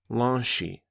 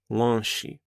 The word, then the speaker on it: lanche: Renata quickly explained that in Brazil, people often say lanche, lanche, which means a snack or a small meal. It's spelled l a n c h e.